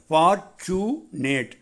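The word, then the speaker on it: fortunate: இன்னொரு அர்த்தம் ஃபார்ச்சுனேட், ஆங்கில வார்த்தை ஃபார்ச்சுனேட், அந்த டியூவை சூ என்று உச்சரிக்கணும்.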